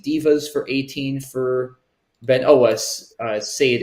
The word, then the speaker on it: sade: Sade, S-A-D-E, or Sadi, I think it's pronounced, plays above Petrels for